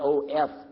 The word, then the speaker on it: of: I mean O-F. I'll get it right in a minute. O-F, we pronounce it of with a V, right?